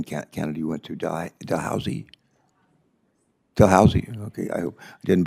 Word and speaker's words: Dalhousie: Ellis earned her PhD from, how do you pronounce the university in Canada you went to, Dalhousie? Dalhousie, okay, I hope I didn't butcher it too bad.